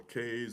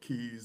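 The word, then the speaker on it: cays: So uh what I like about San Andreas it is surrounded by smaller smaller islands or K's or keys depending on how you pronounce it.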